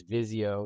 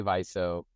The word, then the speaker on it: Viso: um vizo uh what we don't like to hear is Vio it's definitely not Vio the other ones are kind of permissible and and of course as we like to say paying customers can pronounce it however they like right um in any case um yeah we say viso and viso is a